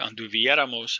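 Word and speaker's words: anduviéramos: And then if you notice in that chart, anduvieramos has an accent on the E, as the last note said on the previous slide. For first person plural only, it's always on the vowel before the ramos ending, and you can tell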